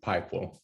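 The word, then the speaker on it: PI-QUAL: image quality so that's do you call it pikewell or peakwell what's the pronunciation of that thank you jeremy we tend to call it pipel but people is fine no worries um francesco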